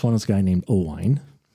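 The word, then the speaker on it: Owain: but pronounced oine.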